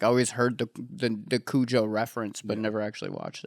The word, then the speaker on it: Cujo: Probably because it's pronounced Kujo.